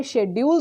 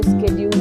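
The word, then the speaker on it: schedule: Okay, सो हमें शेड्यूल तो पता है कि शेड्यूल होता है, ठीक है, लेकिन जब किसी अच्छे को सुनेंगे ना तो वो स्केड्यूल हो जाएगा, ठीक।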